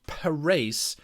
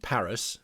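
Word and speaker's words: Parys: a look at for a little town called per race although you'd probably call it Paris but it's pronounced Paris by the the Dutch the Afrikaans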